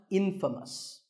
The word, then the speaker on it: infamous: famous for something bad but it's not pronounced in famous it's pronounced infamous all right I hope